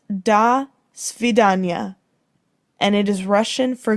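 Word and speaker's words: до свидания: the association might have been different it is pronounced da svidanya and it is russian for goodbye a person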